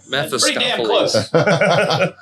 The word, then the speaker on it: Mephistopheles: Mephistopheles.